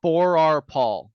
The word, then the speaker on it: Forrar-Paul: So it's Forrar-Paul. It's like the number four and the letter R and then Okay.